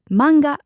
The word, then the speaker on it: manga: in Japanese it's manga because we don't have that a sound that we have in English so the word in Japanese is manga Kissa is short for